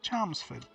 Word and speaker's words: Chalmsford: It's pronounced with an R, but with an L. Chalmsford.